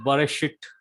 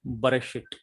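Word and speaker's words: בְּרֵאשִׁית: That is, for example, this belt, belt, or in Hebrew, bereshit, bereshit. So very short E sound.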